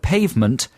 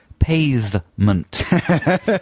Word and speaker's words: pavement: He was so keen on being posh that he used to pronounce the word pavement, pavement. So the first syllable rhymes with bathe.